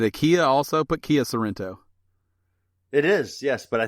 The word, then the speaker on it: Sorento: be like hey dummy she's only got one are still Sorento it's still pronounced Sorento but that's why you've